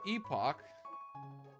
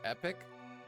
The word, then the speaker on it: Epoch: here we have the epoch Tupac uh also apparently it's supposed to be pronounced Epic but not a single person pronounces it epic yep a cool fancy